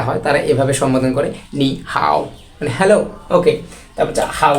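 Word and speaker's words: 你好吗: সাথে যখন দেখা হয় তারা এভাবে সম্বোধন করে নি হাও মানে হ্যালো ওকে তারপর বলছে হাউ আর ইউ তুমি কেমন আছো নি হাও মা নি হাও মা ওকে নি হাও মা এই উপরের দাগগুলা কোন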